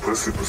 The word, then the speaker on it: Precipice: Ich glaube, das Wort wird Precipice ausgesprochen.